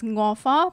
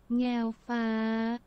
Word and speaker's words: Ngao Fa: I've always been pronouncing it as Ngo Fa, but it's actually like... Ngao Fa.